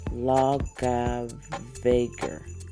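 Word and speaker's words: Laugavegur: name of this street it's loga vager loga vager is the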